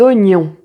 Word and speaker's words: oignons: Tu sais comment le prononcer. Ng. Et donc, là, on va pratiquer quelques mots. Un champignon. Un champignon. Des oignons.